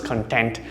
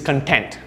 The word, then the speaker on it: content: his life right he's content so content and look at the stress here content the pronunciation is stressed towards the second part or the second syllable content which is to